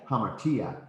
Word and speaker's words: hamartia: Hamartia. I'm just trying to really emphasize that there's this accent as you get out here. No, you're saying it wrong. Oh, because I'm putting the accent on the alpha.